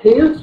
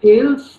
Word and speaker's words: Thales: Now, first of all, let me tell you that the pronunciation of the, you know, T-H-A-L-E-S is Thales, not Thales.